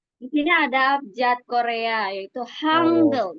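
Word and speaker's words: 한글: sini adajat Korea yaitu hangle biasanya dibacanya hangle ya hangle Iya hangle betul kalau dari angel ya kalau kita orang Angel Nah dari eh abjat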